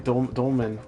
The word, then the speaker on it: Dolmen: Maybe Dolmen. Dolmen Souls, Ramen Souls. Oh yeah, it rhymes with ramen.